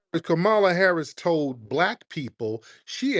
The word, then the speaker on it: Kamala: Kamala Harris no respect whatsoever no pronounce just pronounce her name Camala Harris told black people she ain't going to